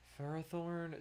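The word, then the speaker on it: Ferrothorn: Dratini Ninetales Ferrathorn. See, it's definitely supposed to be pronounced Ferrathorn, but I just want to say Ferthor. I don't know. It rolls off the tongue so nicely.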